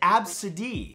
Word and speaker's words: ABCDE: The name is pronounced Absidee.